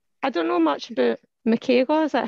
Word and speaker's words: Mikhaila: here okay so i don't know much about michael is that how you pronounce her name yeah yeah it's michaela so i don't know much about her personally